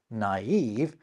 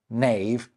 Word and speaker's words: naive: them out, rather than merge them into a single vowel sound. It's what makes this naive rather than knave or knive.